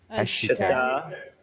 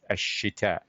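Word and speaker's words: الشتاء: Ashita. Ashita. Jamil jiddan. Notice Shin is a sun letter, so ideally you don't pronounce the lam, right? Because it's Ashita.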